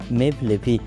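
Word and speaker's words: Mevlevi: তুর্কি ভাষায় এই শব্দটির উচ্চারণ মেভলেভি।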